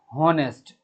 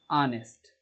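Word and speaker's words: honest: जैसे मान लीजिए इसको बहुत सारे बच्चे बोलते हैं हॉनेस्ट, ये गलत है, इसका सही उच्चारण होता है ऑनेस्ट, आ से शुरू होता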